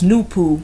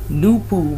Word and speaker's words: NoopooH: The letter H at the end of the name NoopooH is silent and should always be capitalized because it is symbolic.